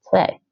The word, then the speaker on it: twee: Ik heb twee moeders. Twee. Okay, so here's the Dutch for you. Ik heb twee moeders. The W is more like a V.